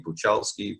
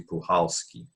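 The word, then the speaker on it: Puchalski: was silence and pujolski first i was saying buchelski pokowski but it's actually pujolski see it's amazing the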